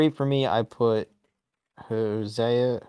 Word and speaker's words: Hosea: for me I put josea Hosea Matthews I think it's Hosea I can't remember how to pronounce yeah yeah yeah josea